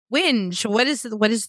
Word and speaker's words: whinge: You know, like whining. Whinge. Whining. Like, oh. Yeah, it's like... Whinge. Yeah, it's like whining with a G.